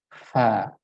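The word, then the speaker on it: ف: Kesalahan yang sering terjadi adalah dengan merapatkan kedua bibir, ya, sehingga bunyinya adalah pa, ya, pa. Nah, itu adalah sebuah kesalahan.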